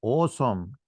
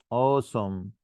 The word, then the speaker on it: awesome: يبقى awesome حرف الايه لما يجي قبل الدبليو او قبل اليو بنطق او. awesome awesome decorate area plan race